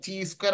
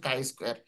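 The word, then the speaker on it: chi-square: চি স্কোয়ার অনেক উচ্চারণ করবেন হয়তো, ঠিক আছে, চি স্কোয়ার উচ্চারণ করবেন, এটা উচ্চারণ হচ্ছে কাই স্কোয়ার।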